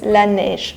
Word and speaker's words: Laneige: laneige is really yeah the pronunciation is laneige which means la is the and nesh is a snow snow snow the snow and i think it's